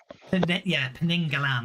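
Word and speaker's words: Penanggalan: I've never been able to pronounce it. by a Siamese vampire. Penengalan. Penengalan.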